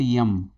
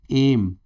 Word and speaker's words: M: Sign दिख रहेगा, ये this is नॉट यम, no, this is actually एम।